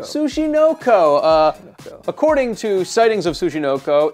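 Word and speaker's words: Tsuchinoko: Sushinko? Sushinoko. Sushinoko. According to sightings of Sushinoko, it's essentially a fat snake that's been rolled by a rolling pin, and it sort of inches forward.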